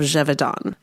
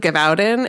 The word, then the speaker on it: Gévaudan: about the beast of Jevidon. And I'm so glad that I looked up how to pronounce that cuz I was calling it the beast of Gavin and I was so wrong.